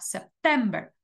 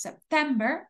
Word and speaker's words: September: octubre noviembre y diciembre la sílaba tónica en inglés es la segunda september october November december Okay la la segunda sílaba es la sílaba tónica